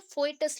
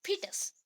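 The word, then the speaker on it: foetus: यहाँ पे स्पेलिंग के अकॉर्डिंग आप पढ़ोगे तो फोइटस लगेगा, बट हम प्रोनाउंस करते हैं फीटस, ठीक है?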